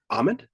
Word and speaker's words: almond: out in California yeah almond yeah California you're saying with an a-h yeah instead of an Al so oh that's right